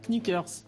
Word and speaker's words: knickers: oui en prenant sneakers on prononce pas le car qui est devant combien de personnes y